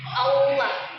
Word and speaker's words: Allah: Allah itu ee ketika mengucap lafaz Allah jangan ada yang ee mengucapnya dengan ada suara wnya Allah. Allah. Jangan ada yang baca seperti itu. Bacanya Allah.